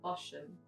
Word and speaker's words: Bosham: the beginning of the year, I visited Bosham, which is spelled B-O-S-H-A-M, Bosham, but it's pronounced Bosham.